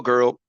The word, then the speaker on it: girl: You kind of made it a quick pronunciation where you said "gur." Talking to a "gur," so it sounded like GER, like "gur," which kind of means the same thing, right?